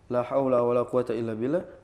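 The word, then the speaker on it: لا حول ولا قوة إلا بالله: lima kalau enggak salah cara bacanya la haula wala quwwata illa billah la haulun wala quwwata illa billah la haulun wala quwwataun illa billah la la haulun wala quwwata illa billah pokoknya gitu boleh bebas Jadi boleh imal,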